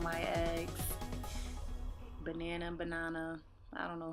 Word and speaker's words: NYX: perfect total loving primer some people pronounce it Nick I pronounced it at my eggs banana banana I don't